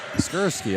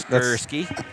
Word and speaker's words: Skierski: Skierski. All right. Skierski. Yeah. Can't pron can't mispronounce her name.